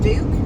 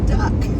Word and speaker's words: Duck: When I usually, somebody who's never met me, they'll go, Duke? I'll say, no. And then they'll do another D name. No, it's Duck.